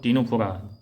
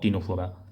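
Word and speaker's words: Ctenophora: देखिए निडेरिया और टीनोफोरा दोनों में सी साइलेंट है, कंफ्यूज मत कीजिएगा, निडेरिया और टीनोफोरा।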